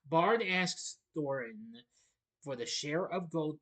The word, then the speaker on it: Thorin: I said Thor. May have mispronounced it. Bard asks Thorin for the share of gold previously promised by the to the people of Lake Town, but Thorin refuses.